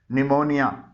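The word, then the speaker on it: pneumonia: पी इसमें silent है निमोनिया इसमें पी के बाद एन आया है यहां पर पी साइलेंट है कुछ अल्फाज में अगर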